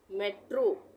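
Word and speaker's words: metro: आए यानी लास्ट में तब ओ का उच्चारण ओ होता है जैसे एम ई टी आर ओ यहां पर लास्ट में आ रहा है ओ इन सभी वर्ड में लास्ट में आ रहा है ओ तो यहां पर इसका उच्चारण हो जाएगा ओ जैसे मेट्रो तो हम यहां पे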